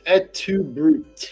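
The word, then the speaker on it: et tu, Brute: I believe it's et tu brute is how it's said in Latin.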